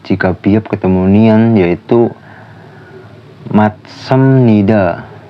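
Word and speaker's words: 맞습니다: Yang contoh ketiga, jika biop ketemu nian, yaitu matsamnida. Tulisannya kan maj sabnida. Itu jiat bisa dibaca itu matsamnida, yang artinya benar.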